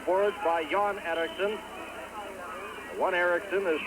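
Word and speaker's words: Erixon: by Yann Ericsson one Ericsson is spelled with an X er IX o n and the other John Ericsson is er I XE I are KS s om but pronounced exactly the same to John Ericsson ISM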